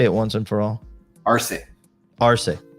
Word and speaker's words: Arce: once and for all ar ar yeah okay not ARS not ARS not ARS definitely not ARS r r so yes